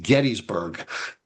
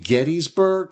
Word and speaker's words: Gettysburg: And speaking of Gettysburg, there's always another controversy whether it's pronounced Gettysburg or Gettysburg. Some people say, well, the town was named after James Geddes, so it should be Gettysburg, not Gettysburg.